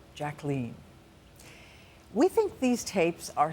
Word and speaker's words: Jacqueline: And by the way, that is how she pronounced her name, Jacqueline.